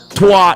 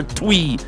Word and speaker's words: Twi: Twa is not a broken language. They call it patois, but it's twa or twi is the pronunciation of the word.